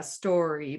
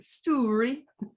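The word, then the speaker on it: Stoorie: wife's heart woveny story i would have probably pronounced it yeah story but it's spelt s-t-o-o-r-i-e so i'm sure with the scottish accent it's much closer to story yeah or yeah but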